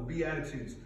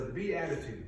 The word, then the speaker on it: Beatitudes: now maybe you wonder what is a b attitude because it sounds different than the way it's spelled if you were a child maybe you think it's a b with an attitude what is that what's